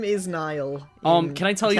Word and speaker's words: Niall: Niall is supposed to be yeah, Nile. Nile.